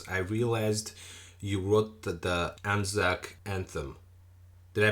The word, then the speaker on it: Anzac: of commissioned works I realized you wrote the Anzac Anthem did I pronounce that right Anzac Anthem that's right yes uh can you tell